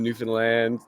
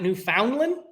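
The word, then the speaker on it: Newfoundland: for our inspiration uh our good friends in New Finland uh Sheena my wife she has family that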